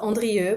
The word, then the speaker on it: Andrieu: I would say so my last name is called is uh is pronounced Andre but that's fine I'm